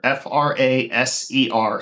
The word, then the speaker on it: Fraser: So Fraser Decks and Patio Covers, and it's spelled like eraser, Fraser. So not like the TV show.